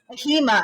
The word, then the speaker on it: AHIMA: association also known as ahima did i say that right stacy did i did i pronounce all the acronyms it's supposed to be a-h-i-m-a i have a thing